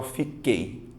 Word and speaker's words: fiquei: um tritongo só que pare e pense e pronuncie você fala fico oi ou você fala fiquei você fala fiquei certo você vai notar que o som do U não aparece ou seja você tem